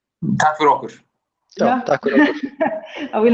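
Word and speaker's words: takk fyrir okkur: Tak for okkur. Yeah. I will not try to pronounce this.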